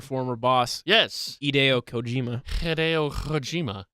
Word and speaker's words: Hideo: Hideo Kojima. I don't think you pronounced the H. Hideo Kojima.